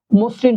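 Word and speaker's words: মসৃণ: করতে হবে তাহলে শব্দটা হয়ে যাবে বলেন তো মসরিন হয়ে যাবে এই যে মসরিন উচ্চারণের বেলায় দন্তন্য সবসময় ব্যবহার করবেন তখন মুদ্যান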